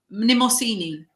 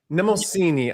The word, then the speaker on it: Mnemosyne: Mnemosyne. Mnemosyne. I'm going to try to say... Like mnemonic, so Mnemosyne.